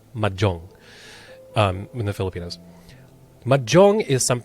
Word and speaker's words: mahjong: love okay we don't we don't pronounce it Mahjong we call it Majong um in the Filipinos